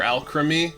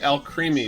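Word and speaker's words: Alcremie: called elk creamy or al creamy actually no everybody's everybody's pronouncing it al creamy but it's like alchemy guys alchemy yeah does it make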